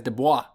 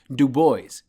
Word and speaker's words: Du Bois: I bet he didn't tell you that he pronounced W.E.B. Du Bois' name as Du Bois for years until I told him that it's pronounced Du Bois.